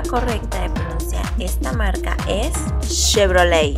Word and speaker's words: Chevrolet: así la forma correcta de esta marca es chevrolet y no sigues diciendo photoshop así no se